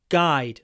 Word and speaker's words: guide: guide a guide book remember to open your mouth G guide not go it's impossible to pronounce this word with your mouth closed GG guide book a